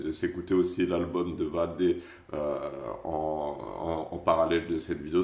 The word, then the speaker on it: Vald: On est parti pour 30 minutes de Valdé, de Vald. Putain, il m'a tellement matrixé dans sa chanson à dire ouais Valdé que maintenant je l'appelle Valdé alors qu'apparemment ça se prononce Vald.